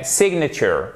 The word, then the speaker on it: signature: verne de l'intensité mais on appuie sur la première syllabe sénateurs ok signature parce que nous francophones on a tendance à mettre le reste entre parenthèses à faire c'est de nature non signature voyez on entendre à la fin qui ici qui est